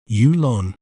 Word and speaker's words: Yulon: word to better understand its pronunciation we may pronounce it as ulon ulon U Lon ulon an interesting fact about